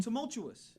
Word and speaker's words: tumultuous: This means we're saying it wrong. Say it again. Tumultuous. Tumultuous. Tumultuous. Tumultuous. Yeah, tumultuous. Tumultuous. What you mean? You guys were putting an R in there.